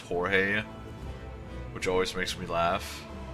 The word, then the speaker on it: Jorge: Just like in English, it's George. In Spanish and Mexican, it's pronounced Jorge, which always makes me laugh.